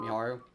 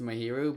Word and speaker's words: Mahiru: Miharu? Yeah, her. Do you remember why they became fast friends? Actually, I think I got the name wrong as I said that. I'm pretty sure it's Mahiru, but they became fast